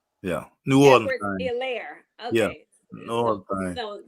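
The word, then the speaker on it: Helaire: Yeah, the H is silent, everybody. H is silent. Yeah, New Orleans. Hilaire.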